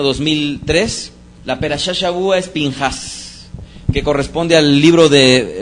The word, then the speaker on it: Pinhas: Finés, que en hebreo vendría a ser Pinhas. Fíjense cómo cambia bastante lo que vendría a ser la pronunciación. Es que ahí utiliza para este nombre la letra hebrea P. Y P, dependiendo del signo diacrítico y dependiendo del contexto, podría pronunciarse como P o como Fe.